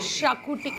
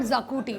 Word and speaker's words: Xacuti: dish name Rongli तो इट्स नॉट शाकूटी इट्स नॉट जाकुटी इट्स शाकू टी एस एच ए कुटी शाकूटी सो या let's take